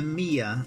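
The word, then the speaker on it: Meijer: box which contains a a mia a meyer my yes i've been told it has to be said it's spelled meyer uh and it contains three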